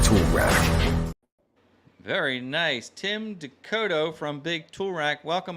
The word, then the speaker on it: Descoteaux: The last one, Descoteaux, you said, right?